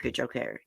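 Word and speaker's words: Cojocari: So this little girl, Madalena Kujokari, I did look up that last name this morning. That's how you say it, Kujokari.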